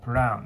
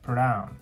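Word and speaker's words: plan: 今回で言うとプランですねプランこのまあと絵の間の中間みたいな音ですね母音がそうなってると思いますプランて感じではいまある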